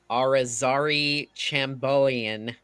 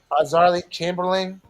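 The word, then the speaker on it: Azaria Chamberlain: a famously associated with a 1980 death of Arazari Chambolian in Australia. So yeah, that's a real thing. Chamberlain, Yeah. Azarly Chamberlain.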